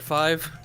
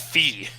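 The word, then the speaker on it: phi: entirely yeah funny enough I always thought his name was like pronounced fee it does look like what it's pronounced and the the letter after looks like Chi but it's it's fi and Kai oh all right it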